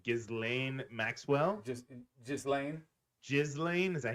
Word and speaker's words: Ghislaine: I don't even know how to pronounce her name. Ghislaine Maxwell? Just Lane. Ghislaine? Is that how you say it? Ghislaine. Ghislaine.